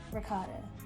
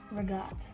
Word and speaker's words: ricotta: It is not ricotta. It's regat. Regat with a G, okay?